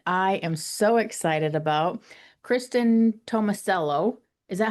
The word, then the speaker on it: Kristin Tomasello: Kristen Tomicello. Is that how you pronounce it?